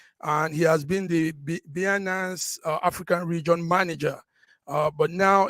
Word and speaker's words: Binance: Binanza, I don't know how you pronounce that word. Update, yes, Binance.